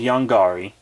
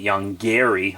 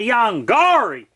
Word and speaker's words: Yonggary: just called young gari some of you are gonna get pissed in the comments because I'm not pronouncing it young Gary like they do in reptilian but that's not how I pronounced it as a child so there's know how I'm gonna pronounce it now back in my day we said young gari sorry but it's like